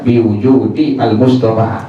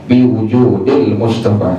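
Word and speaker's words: بوجود المصطفى: Jadi tak boleh kita baca biwujudi al-Mustafa, mesti dibaca dengan kalimat biwujudil Mustafa.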